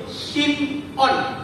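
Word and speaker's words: Shim'on: Ibrani sebetulnya bukan Simeon cuma kalau dalam bahasa ibraninya itu sim on bacanya gitu Simon bukan diis misalkan antaraan beda antara Simon dengan SIM on beda kalau bahasa Ibrani SIM kayak ta petik on karena Simon artinya kecil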